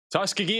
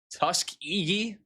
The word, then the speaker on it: Tuskegee: Tuskiggee is kicking your behind. Am I not pronouncing it right still? Tuskiggee. Are we still not in the right ballpark? Tuskegee.